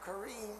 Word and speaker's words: Corrine: was born in 1942 we pronounced her name kareem because she was named after my grandmother who spelled her name